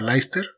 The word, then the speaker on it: Leicester: un montón de letras como leicester que se pronuncia leicester que se escribe worcester City en este punto